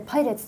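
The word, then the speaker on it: 海賊: これで宇宙海賊でパイレーツと読む、はい、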